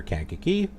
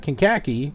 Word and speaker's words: Kankakee: is right here greater Kankakee it's not can khaki its kankakee that's how it's pronounced I had to look